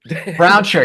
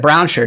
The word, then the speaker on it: Brownsher: show with me Brown Browner what do pronounce it for me Browner you had it Browner just like it's spelled Browner Brown R you